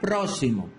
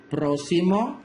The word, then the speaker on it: próximo: La palabra próximo en la última oración está mal acentuada. ¿Cuál es la forma correcta? Próximo, esdrújula, próximo, grave, próximo, aguda, no lleva tilde.